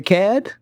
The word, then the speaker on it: Caad: If you don't already know who he is, this is Corey Caad.